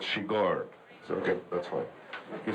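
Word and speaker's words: Chigurh: I just asked him what was the right pronunciation of my character's name, which is quite weird, and he said Shigar.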